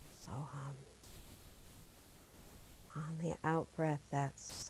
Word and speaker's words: Soham: In Sanskrit, these simple syllables mean I am that. Hum, Sa, also known as Soham. Soham.